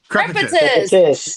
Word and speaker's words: Crepitus: Crepitus.